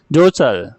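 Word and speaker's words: jostle: धक्का मुक्की करना, जोसल, धक्का मुक्की करना या ढकेलना, जोसल, टी साइलेंट है इसमें, जोसल।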